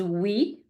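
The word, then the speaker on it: oui: phonetic sound like we said before when we were talking about the Y so it's like the e in C so e first example is we which means yes repeat after me we your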